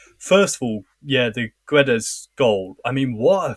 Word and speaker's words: Guedes: What did you make of the first, Guedes or Gedge, should I say? I normally say Gedge.